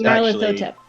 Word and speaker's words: Nyarlathotep: Well, it's like if Nyan Cat and Emotep had a baby. Okay, That's Nyarlathotep.